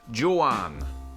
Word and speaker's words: Juan: what's your full name juan my name is pronounced johan can't even tell me